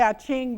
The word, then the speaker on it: I Ching: Okay, this 29 in the I Ching, which is an H, it's Yi Jing is the correct way to say it. But I like to say I Ching because we do.